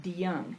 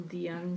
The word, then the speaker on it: DeJong: like DeJong, it's pronounced DeYoung, and there's still DeYoungs there. And then there's DeYoung Road, too. It's DeYoung. DeYoung. DeYoung. DeYoung. Yeah, it looks like, The J is pronounced like a Y.